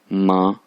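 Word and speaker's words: 妈: Pronounce जब करना है क्योंकि फर्स्ट टोन है ऊपर माँ माँ माँ।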